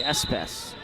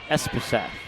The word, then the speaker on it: Espeseth: Serve this time will go into the hands of Lindsay Espes. Espeseth. There we go. To put those dash marks in there so I remember how the syllables are supposed to roll on that one.